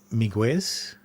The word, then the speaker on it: Miguez: Miguez. Like Miguel.